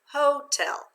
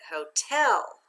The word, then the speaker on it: hotel: it with the accent hotel that sounds a little funny let's try changing the accent now let's read it together with the accident hotel i went to the